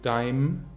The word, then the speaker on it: deinem: a-schwa am Ende, deiner, deinem, der Dativ wird zu deim, deim, deinen, der Akkusativ wird zu dein, dein.